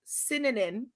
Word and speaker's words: Sinanan: sorts it's it's mostly i just tell people to say it like cinnamon yeah you know because it's pretty much the same just with ends instead of the m so yeah my when